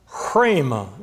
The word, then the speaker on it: rhema: It's pronounced rhema, as if you were breathing the R.